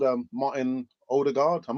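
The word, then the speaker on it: Ødegaard: player called um martin older guard i'm not even sure is that the right pronunciation james older guard no order guard as far as i'm aware it's a odor guard as um listeners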